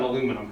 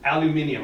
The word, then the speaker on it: aluminium: that's that works great on aluminum I mean aluminium I'm Sor I don't want to confuse while you're here all five all five syllables will be pronounced I don't want to